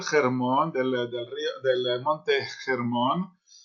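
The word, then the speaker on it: Hermón: del Río del monte germon Normalmente se escribe con h pero es H aspirada es una J el el monte germon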